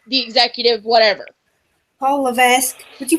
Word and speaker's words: Levesque: And he becomes back to being Triple H, the superstar, not Paul Leviticus, the executive, whatever. Paul Levesque. Would you pronounce it properly, please?